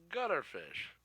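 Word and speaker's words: guitarfish: everything sent over so are you saying cutter fish or gutter fish it's gutter fish gu i know it's gutter g-u-i-t-a-r-f-i-s-h i'm pretty sure i was saying that right i might butcher the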